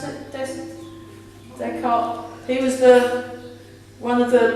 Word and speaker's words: Descartes: Is that how you pronounce it? Descartes.